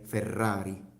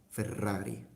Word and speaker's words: Ferrari: I don't say further oddly no I say Ferrari Ferrari okay so so there is that and I